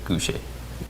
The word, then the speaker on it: Gousheh: My social handle is Sam_GOUSHEH. You pronounce it Gouche.